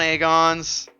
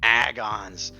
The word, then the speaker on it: Aegon: evil what's going on aegon I was saying your name wrong for the longest time would you correct me I was calling it agons I had the real Gringo Accent on it agons but then I then